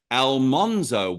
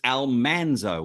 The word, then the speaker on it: Almanzo: doesn't it Dean that everybody was pronouncing Almanzo wrong because they were saying Al monzo Wilder where it's Almanzo Wilder right that was one